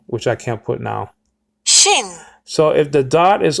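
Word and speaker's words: שין: not pronounce this letter Sheen he pronounced it Shin very clearly if you see his interviews he did not pronounce this as Sheen he pronounced it Shin not Sheen but there are different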